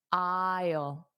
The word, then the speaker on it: aisle: And notice the pronunciation. Don't look at the spelling because the spelling and pronunciation are different. So close your eyes and listen to the pronunciation. Isle isle.